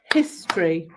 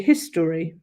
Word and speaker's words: history: So some of us say in 2 syllables, history. Other people say history. It's your history. So that might depend on how you are. But certainly if you were going to say it how you spell it, history.